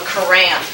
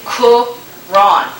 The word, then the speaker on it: Quran: if you're really smart you don't pronounce it that way you say Kuran supposedly and it's very difficult for me to say that uh this is composed